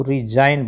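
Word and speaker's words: resign: आर इ एस ए जी एन रिजाइन। ठीक है? एस का उच्चारण ज भी होता है। तो यहां पर क्या होगा? एस जो है ना जे की साउंड से बोला गया तो रिजाइन बोलेंगे।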